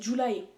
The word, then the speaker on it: July: Euh, j'allais dire Lucy, c'est pas c'est pas Lucy, c'est July ou Julie selon comment on le prononce, mais c'est July écrit à la à l'américaine comme le mois de juillet.